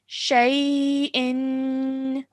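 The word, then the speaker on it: شيء: If you want to pause, this will become shay. Shay. Yes. What's happened is that this kasratain becomes a sukoon. Okay, it becomes a sukoon. That's why our sound changes to shay.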